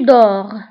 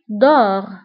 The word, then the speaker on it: dors: Je dors، la terminaison هي S، مع أنها مكتوبة ولكن ما كنطقوهاش.